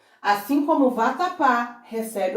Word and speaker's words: vatapá: E chamando essa palavra, vatapá, temos a sílaba tônica justamente aqui, na última, tratando-se de uma oxítona.